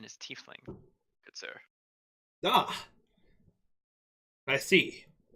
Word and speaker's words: tiefling: sets it down beside the rest the correct pronunciation is tiefling good sir ah I see the waves of